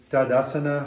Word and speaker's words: Tadasana: So we start in Tadasana, feet together, hands at heart center, Samastitihi. The pose is samastiti, but we say samastitihi, which means going into samastiti, right? So we're in Tadasana, mountain pose, samastitihi.